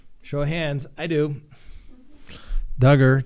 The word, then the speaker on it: Duggar: of hands i do dugger josh duggar rhymes with hugger that's right uh scott